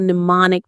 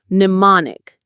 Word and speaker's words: mnemonic: You have just created a mnemonic device. Let's learn that word. Mnemonic. Mnemonic. Mnemonic. It's a strange spelling with that silent M at the beginning. The stress is on mon.